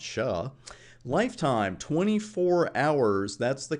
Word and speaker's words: SHA: we're going to use something called sha which I like to pronounce sha lifetime 24 hours that's